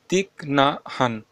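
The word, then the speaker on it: Thích Nhất Hạnh: তো 2019 সালে গান্ধী ম্যান্ডেলা শান্তি পুরস্কার পেয়েছেন তিক না হান। ওকে, উচ্চারণটা একটু দেখে নেবে, তিক না হান, ইনি পেয়েছেন গান্ধী ম্যান্ডেলা শান্তি পদক।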